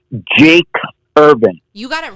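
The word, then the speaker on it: Jakes: did you say rob his name is jack jake jake like j-a-k-e-s yeah well tell him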